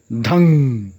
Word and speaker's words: धं: तो उसी में एक बीज मंत्र है धंग धंग धंग ध, जो उस पर अनुस्वार रहेगा, उसका उच्चारण अंगा न जैसा होगा। धंग धंग धंग, ठीक से इसको स्पष्ट सुन करके इसका उच्चारण अभ्यास कर लेना है।